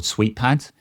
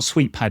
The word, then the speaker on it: SweetPad: However, I have a plugin installed in Cursor called SweetPad, and that allows me to open the simulator from Cursor instead of having to go to Xcode.